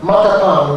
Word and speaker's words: matapang: In Tagalog, Matapang, without the glottal stop with the Chamorro Matapang, and featuring an accent on the first syllable, means bold and courageous.